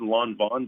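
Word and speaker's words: Lanvin: but there's a spell it's spelled like or said it said long bond but it's spelled LAN bi N and they just have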